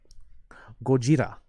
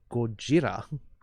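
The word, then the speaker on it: ゴジラ: Gojira. Yes, Beatlesman's pronouncing it correctly. Gojira. Godzilla in Japanese is Gojira.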